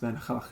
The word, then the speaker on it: Van Gogh: The only reason I know it's pronounced Van Gogh is because I went to.